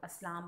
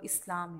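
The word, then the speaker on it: اسلام: आपको लफ्ज़ की अदायगी, वैसे लोग अस्लाम बोलते हैं, लेकिन जो असल में जो प्रोनाउंसिएशन है या इसकी तलफ़ुज़ की अदायगी है वो इस्लाम है, यानी हमारे मज़हब के जो है, हमारा मज़हब जो है इस्लाम।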